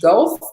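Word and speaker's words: Guelph: to pronounce this right it's GU elph Gulf and Ontario and then Marysol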